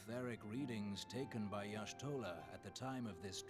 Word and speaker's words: Y'shtola: Her name is pronounced Y'shtola.